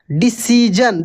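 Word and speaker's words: decision: और रूल सीख लीजिए यदि एस आई ओ एक साथ मिल जाता है किसी भी वर्ड में तो इसको हम लोग ज पढ़ेंगे क्या पढ़ेंगे ज एस आई ओ मिल जाता है तो ज जैसे डिसीजन देखि एस आई ओ को हम ज पढ़ रहे कन्फ्यूजन ठीक ना कंफ्यूजन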